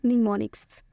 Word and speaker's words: mnemonics: English के words के साथ और इसे हम प्रोनाउंस करते हैं निमोनिक्स।